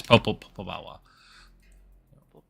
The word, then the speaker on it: Popobawa: Popobawa, I think. Okay, I was trying. Was that Jeffrey? Yes. Yeah, there it is. Popobawa.